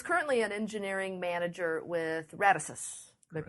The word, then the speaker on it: Radisys: industry, and is currently an engineering manager with Radisys. Did I pronounce that correctly?